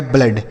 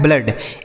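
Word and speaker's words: blood: ब और ल और डबल ओ का उच्चारण केवल अ होगा तो इसे लिखेंगे नहीं डी से ड यह लिखा गया ब्लड। क्या लिखा गया है? ब्लड।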